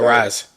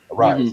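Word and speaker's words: Arraez: how you say his name from the Arise. Arise.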